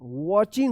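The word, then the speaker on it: watching: आई एन जी वॉच वाचिंग वाचिंग होगा। वाचिंग यहां पे टी जो है ना साइलेंट रहेगा।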